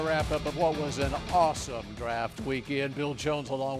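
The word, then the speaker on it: Asim: Why was it so awesome? Well, it was so awesome because of what the Cowboys did on Saturday. They drafted a player in the 5th round who pronounces his name Awesome Richards.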